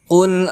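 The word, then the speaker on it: قل: Qul a'udzu birabbil falaq. Qul a'udzu birabbil falaq. Di ayat pertama ini kita bertemu lagi dengan qaf. Berbeda dengan kaf, maka dibacanya harus menggunakan qaf.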